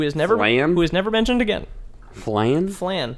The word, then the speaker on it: Flann: Who created some incredible healing miracles, and she was married to Flann, the flame god, who is never mentioned again. Flann? Flann. Flann or flan, like the dessert?